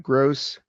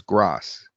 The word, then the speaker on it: Gross: Hey gang, this is Gross. Now, sometimes it gets my name wrong. It says Grass, so I'll write Gross like that, which sometimes it pronounces Gross, but it's closer.